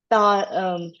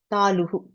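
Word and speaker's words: tālu: close to the throat that is called tal um talu taloo.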